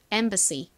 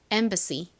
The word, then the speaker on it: embassy: 자, 발음 연습해 볼게요. 대사관 embassy 다시 해 볼까요? embassy 좋습니다.